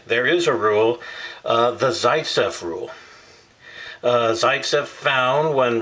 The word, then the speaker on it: Zaitsev: way the site says rule I've heard it pronounced Zaitsev Zaytsev Zaytsev all sorts of different names for